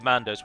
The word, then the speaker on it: Mandos: to the halls of mandos where it is then judged by mandos himself now as I say his name is na mo but he is often and more commonly called man DOS which is also the